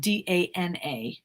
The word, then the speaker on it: Dana: Her name is Donna Gurgley, but it's spelled D-A-N-A. So I say Dana because I want you to spell it right.